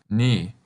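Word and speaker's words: に: Can you guess how it's pronounced? That's right, ni.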